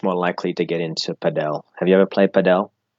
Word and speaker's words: padel: Start with pad. Pad. And now L. L. Pad. All right, now just bring them together. Padel. Nailed it. Well done. Boom. Yeah, that's just fantastic pronunciation. Padel, yes.